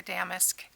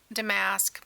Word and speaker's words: damask: so and I know some people say damask but I always remember that it's sounds more like cussing if you want to say it correctly it sounds more like swearing so uh yes uh